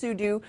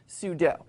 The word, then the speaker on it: sudo: Actually, Fred Haig, as we all know, sudo stands for super user do, and so I can totally understand why you would have to pronounce it sudo, and in fact, it is officially pronounced sudo, but Wikipedia notes that